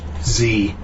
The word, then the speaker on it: Z: And even though I'm Canadian, I'm pronouncing it Z because it's an American movie.